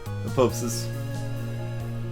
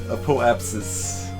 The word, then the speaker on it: apoapsis: then burn at uh apopsis I I know there's another syllable there I don't want there to be four syllables there I just want to say apopsis apoapsis oh uh yeah